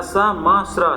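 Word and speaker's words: श्मश्रु: और लेके आया हूँ, इसमें लिखा हुआ है स्मस्र, आधा सा मा स्र, स्मस्र, इसका प्रोनाउंसिएशन इस तरीके से होगा, और इसका जो तद्भव होगा मूंछ, मूछें नहीं होती, मूछ जानते होगे ना, मुस्टैच, मूछ।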